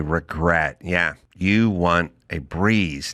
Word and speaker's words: Brez: Yeah, you want a breeze, not a hangover. Meet Breeze, spelled B R E Z, pronounced breeze.